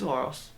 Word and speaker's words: Aorus: Aorus - it's Aorus. I knew it. Never been good at pronouncing things.